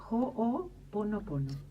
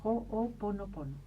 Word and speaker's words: Ho'oponopono: En hawaiano se pronuncia cada letra, cada vocal, igual que en español, en el castellano. ¿Vieron como nosotros leemos todas las letras? En hawaiano es lo mismo. Entonces, Ho'oponopono.